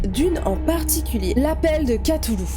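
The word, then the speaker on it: Cthulhu: en particulier l'appel de katoulou alors ça se dit qu'à tout le apparemment je sais ça s'écrit to loup mais c'est ainsi qu'à Toulouse apparemment voilà c'est l'info du jour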